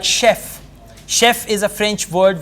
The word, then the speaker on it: chef: origin word words like chef Chef is a French word we have it in English so the words that come from French in French we always pronounce CH as sure otherwise CH has to